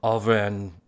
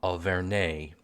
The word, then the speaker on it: Auvergne: And apart from my massacring of the region of France known as Auvergne, and I think I've mispronounced that again, let me give that another try, Auvergne.